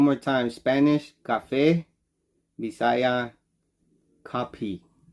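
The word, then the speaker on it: kape: I might not say it really really good copy but it's pronounced it's spelled k-a-p-e copy and it means coffee now in Spanish you say Cafe in English is coffee so one more time Spanish Cafe bisaya copy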